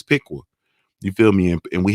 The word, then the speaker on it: Piqua: like and then our with the peck away I realized it was the pronunciation is Piqua you feel me and